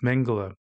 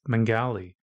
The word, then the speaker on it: Mengele: a book about Joseph Mengele the sadistic Doctor Who Peterson once referred to as mengali and surreptitiously alluded to when he spoke about the boys from Brazil I also suspect he mispronounced mengele's name to distance himself from